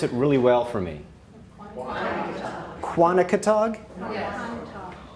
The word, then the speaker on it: Quonochontaug: First, I'd just like to thank, can someone pronounce, I'm going to call it Quani, but could someone pronounce it really well for me? Quonochontaug? Yes. Quonochontaug.